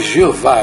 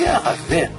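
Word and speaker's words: Yahweh: A pronúncia, a turma fala por aí, Jeová, né? Eu não creio. Ela se perdeu ao longo dos séculos, sabe? Mas significa Yahvé, a versão certa é Yahvé.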